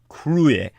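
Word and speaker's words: cruth: word c or uth which you'd think would be pronounced kruth but it's crue and that means to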